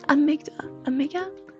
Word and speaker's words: amygdala: Amygdala. I can't pronounce it. What is it called again? Amygdala.